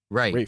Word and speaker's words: Ralph: He goes by Rafe, but it's spelled Ralph. It's spelled Ralph, but it's pronounced Rafe.